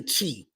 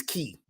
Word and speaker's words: chi: is right uh we we normally say chi my understanding is the proper pronunciation of it is key like um your key